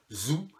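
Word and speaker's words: Thou: Ensuite, il y avait un groupe qui s'appelait Zoo. Alors Zoo, ça s'écrit T-H-O-U. Je crois qu'ils sont aussi sur Arte Concert, je vous le conseille.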